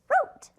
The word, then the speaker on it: wrote: Here's our W, it's our ghost sound. It doesn't make any noise at all. Here we go. - (sounding out phonetically) Wr-o-te. - And remember that E is also silent.